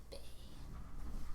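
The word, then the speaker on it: Bae: My name is Bay. You're a male? No, I'm a girl named Because Bay. Bay is spelled. Bay is spelled B-A-E.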